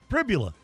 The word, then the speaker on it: Pribula: Rhymes with Fibula. Tribula? Bibula? Yeah. Pribula.